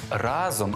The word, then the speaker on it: разом: а працюємо разом запам'ятайте прикметник разом має наголос на першому складі А ось коли ви